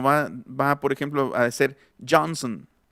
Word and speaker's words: Johnson: Y en todos los apellidos que traen al final son, en realidad ya no se va a pronunciar la O, sino va, por ejemplo, a ser Johnson, Lennon, Harrison, Lennon, Harrison,